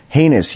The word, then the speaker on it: heinous: I said it wrong last week, but it's heinous unit squad stories.